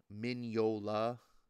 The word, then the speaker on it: Mignola: Mignola is how you pronounce Mignola.